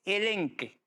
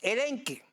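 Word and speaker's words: ἐλέγχω: Eh, la palabra reprender es elenque. Se escribe con ch elenche, pero la ch se pronuncia acá en griego. Entonces, elenque es el término 1651 de la concordancia Strong.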